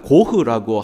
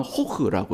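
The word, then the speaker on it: Gogh: 그 G를 히읗으로 H로 발음을 하는데, 그래서 반 고흐라고 하기도 하고 네덜란드 사람들은 반 호흐라고 이렇게 얘기를 하기도 합니다.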